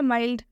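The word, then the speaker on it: mild: Exception में जब डी से पहले एल आएगा तो इस एल का उच्चारण आधा ल से करेंगे, ठीक है।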